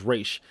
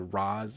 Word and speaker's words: Ra's al Ghul: His animated series version is Raish. For the longest time, leading up to that first movie, it bugged the crap out of me that they pronounced it Roz instead of Raish because I grew up with pronouncing it Raish. But it's kind of like Street Fighter with Ryu and Ryu. They both, is correct, but just pronounced differently.